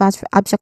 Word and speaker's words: abstract: The pronunciation it starts with the stress syllable ab and then struck. Okay. Struct the short a vowel sound.